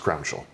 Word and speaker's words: Crowninshield: Crownin- it's it's spelled Crowninshield, but it's pronounced Crowninshall.